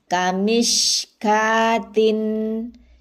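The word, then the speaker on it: كَمِشْكَاةٍ: Syuraka'a mashkuron kamishkatin. Ini dibacanya ka, wawnya tidak dibaca ya.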